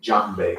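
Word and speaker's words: djembe: it's it's spelled d-j-e-m-b-e the d is silent there once again that spelling is d j e m b e okay john bay okay and this particular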